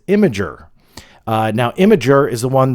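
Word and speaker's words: Imgur: The correct pronunciation is Imager.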